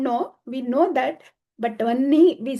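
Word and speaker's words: वह्नि: See, when we write in Sanskritam Vahnau, but then it is pronounced as Vannau. It's not that we don't know, we know that, but Vanni, we say, even though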